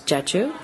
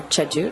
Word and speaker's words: Jeju: It's known as Jeju, or Jeju, depending on how you want to pronounce it, somewhere in between.